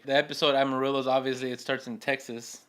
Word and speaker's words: Amarillo: Amarillo for the for the proper pronunciation.